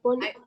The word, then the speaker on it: phone: The phone is ringing. Terus bawahnya. The phone is ringing, I'll get it. I'll get it. Get it. P ketemu H, bacanya F. Phone, bacanya phone.